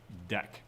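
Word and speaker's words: deque: a it's called a dec d-e-q-u-e right it is spelled that way and it is pronounced dec so uh unlike a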